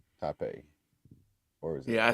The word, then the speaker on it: Taipei: You know, it's like Oh, and uh John said ta it's pronounced taipai. I think Taipei or was it?